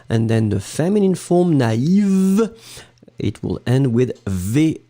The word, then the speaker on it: naïve: first A, na, and then separately you will pronounce the I. Naïf. Naïve.